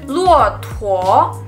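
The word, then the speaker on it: 骆驼: Onta dalam bahasa Mandarin luotuo. Luotuo, bukan luotuo, tapi luotuo. Jadi T-U-O, kita tekan bacanya pakai H.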